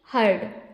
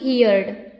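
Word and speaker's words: heard: हर्ड इसे क्या पढ़ेंगे हर्ड ना कि यर्ड यर्ड बिल्कुल नहीं पढ़ेंगे हर्ड पढ़ेंगे ओके तो हर्ड ये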